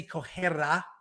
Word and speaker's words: Correa: And one of our very, amazing community members, Correa, I said it right this time. I didn't say it like a Brazilian.